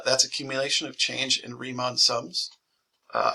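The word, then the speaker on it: Riemann: accumulation of change in remon sums uh I've also heard it pronounced Ryon sums actually let me back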